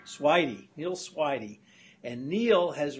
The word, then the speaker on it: Swidey: Did I pronounce that right? Swidey. Swidey.